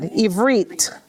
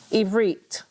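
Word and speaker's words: עִבְרִית: Ivrit. Ivrit. With the T, with the T. Okay, Ivrit.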